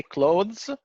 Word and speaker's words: clothes: The British would say clothes with pronouncing the and then the, and the American would say clothes without the sound.